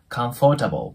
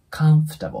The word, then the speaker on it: comfortable: よく皆さんね Come For Table っていう感じで発音される方多いと思うんですけど実はこれそういう風には発音しないんですねこれ英語では come のように発音しますこの for の部分が for ではなくもう下唇の粘膜あたりを噛んでそのまま空気を出すだけのイメージカンフタバをカンフタボーな感じになり